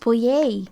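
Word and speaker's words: Poyais: real land grant to Greg, Oh, it's but pronounced Poyet.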